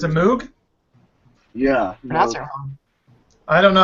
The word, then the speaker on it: Moog: brick at it what is that it's a MOG oh it's a Moog yeah I don't know how to pronounce it it's spelled m o o always